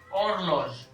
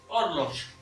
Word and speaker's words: horloges: सो मैंने अगर आपको याद हो, यहाँ पर हम लगाएंगे इंडेफिनिट आर्टिकल दे ऑर्लोज, HORLOGES, ठीक है। सो दे ऑर्लोज, H साइलेंट रहता है, रिमेंबर याद रखिएगा, H हमेशा साइलेंट रहता है।